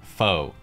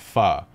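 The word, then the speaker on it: phở: after some type of pun involving the word foe fo sure foe ever fo true foe you etc but in reality the word is actually pronounced fa as in guys i waited four years for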